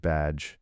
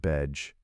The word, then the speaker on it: badge: In English, we pronounce it badge, not bedge.